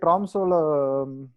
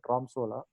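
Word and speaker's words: Tromsø: அந்த சிட்டியை தவிர பார்த்தீங்கன்னா பக்கத்தில் வந்து எந்த ஊருமே கிடையாது இந்த ட்ராம்சோவில். ஸோ இது இந்த ஓ மட்டும் கொஞ்சம் ஒரு மாதிரி அவங்களோட ஓ வேற மாதிரி ப்ரொனவுன்ஸ் பண்ணுவாங்க. அது எனக்கு ப்ரொனவுன்சியேஷன் இங்கிலீஷ் ஓ மாதிரி தான் நான் யூஸ் பண்ணுறேன்.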